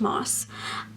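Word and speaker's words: Maas: the short story collection I said massed at night I met moss it's pronounced moss anyways I listened to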